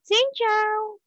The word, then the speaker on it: Xin chào: Xin chào.